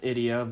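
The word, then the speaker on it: Ideya: Well, according to Journey of Dreams is pronounced Idia, but I thought it was idea up until I played a little bit of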